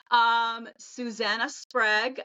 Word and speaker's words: Susannah Sprague: very amazing woman on here as our guest, Susannah Sprague. Did I pronounce that correctly?